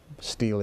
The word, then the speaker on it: Stele: Stele is fine. It's Okay. S-T-E-L-E. You could pronounce it either way.